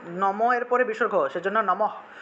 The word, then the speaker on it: নমঃ: এর পরে বিসর্গ সেজন্য নমঃ উচ্চারণটা হবে নমঃ অর্থাৎ নমঃ আর বিসর্গের জন্য হ উচ্চারণ আসবে তাহলে নমঃ নমঃ এভাবে